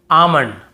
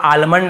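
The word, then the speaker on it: almond: काम बाम पाम और यहां पे आमंड बहुत से लोग आलमंड ऐसे बोल देते हैं बहुत काल्म बालम पाल्म नहीं होगा काम बाम पाम और आमंड ऐसे आलमंड आलमंड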